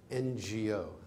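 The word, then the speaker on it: Ngô: to pronounce things like NGO. I'm going to pronounce it no, but the way you should pronounce it is take the word sing, S-I-N-G. Now drop the S and the I.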